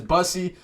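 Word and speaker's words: Bussi: I like to call him Boosie, but I think his proper pronunciation is Bussey.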